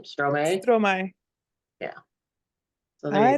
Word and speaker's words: Stromae: Stromae.